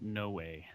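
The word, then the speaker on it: Noé: Noah. I heard him pronouncing it no way.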